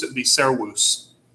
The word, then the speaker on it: servus: this would not be cerebus it would be sarawus because the v would be pronounced like a w but again as a